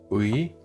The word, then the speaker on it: 의: Premier cas, quand oui est la première syllabe d'un mot, on garde le son complet. Oui, voici quelques exemples et répétez après moi. Une chaise. Oui, ça oui, ça oui, ça un médecin.